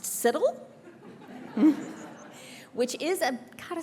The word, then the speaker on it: CITL: Yes, Cheryl tells me this is pronounced CITL.